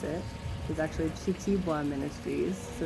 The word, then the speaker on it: Kitiibwa: pronounce it, is actually Kitiibwa Ministries. So the K-I kind of make a C-H sound here. So it's Kitiibwa. Also some people put an E in front of it, so Kitiibwa.